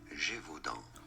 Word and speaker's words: Gévaudan: In French, it is said as Gévaudan.